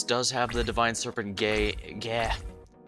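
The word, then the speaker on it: Geh: have the divine serpent gay yeah how do you pronounce it it's g-e-h so i think it's gay but yeah it's in his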